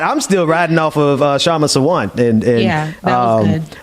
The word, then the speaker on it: Kshama: I'm still riding off of Kshama Sawant, and that was good. I'm gonna learn how to pronounce people's names going forward before I bring them on the show. So I apologize. That K is silent.